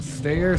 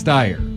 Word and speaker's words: Steyer: Steyer just Eyre State how do you say that man's last name stair star I think it's Steyr Steyr steyr okay okay